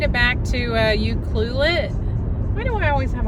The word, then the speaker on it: Ucluelet: back and um well the locals say Yuki Yuki is that what we were told that's what we were told we made it back to Yuki and I was really